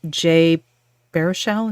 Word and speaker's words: Jay Baruchel: I love Jay Baruchel.